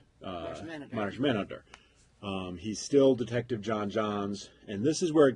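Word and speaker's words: J'onn J'onzz: for the pronunciation, because I've heard a bunch of people be like, he's John Johns. I'm like, no, there's an apostrophe. It's John Johns.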